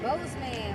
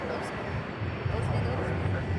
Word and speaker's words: Bozeman: Bossman. Bossman, we call it. Bossman.